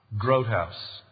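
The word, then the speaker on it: Groothuis: you pronounce that Brutus might know how to pronounce that last name what growth house thank you I was way off good news for women it's spelled G ro ot hu is good news for women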